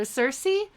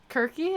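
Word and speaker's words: Circe: not a sound so cersei the goddess or kirky is actually how you're supposed to say her name apparently um so uh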